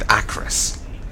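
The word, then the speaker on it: Acherus: And so that's how you say it, Acros.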